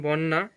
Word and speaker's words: বন্যা: যুক্ত ব্যঞ্জন বর্ণ থাকলে আদ্য অ এর উচ্চারণ ও এর মত হয় যেমন বন্যা হয়ে গেছে বন্যা শব্দের শুরুতে অ যুক্ত